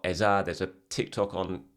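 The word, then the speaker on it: Eze: their own names and he pronounced it eza, so that's what you should be calling it.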